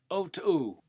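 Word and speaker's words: Otoo: O Two, he told me his name was, pronounced O Two.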